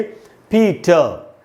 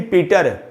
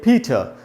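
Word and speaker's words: Peter: है, खाली कॉन्सोनेंट्स हैं, तो उस आर का उच्चारण नहीं होता।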